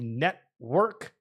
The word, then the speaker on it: NTWRK: never checked it out it's just called the network but it's spelled kind of weirdly so just keep that in mind uh in the ntwrk not the full word uh but pudgy Penguins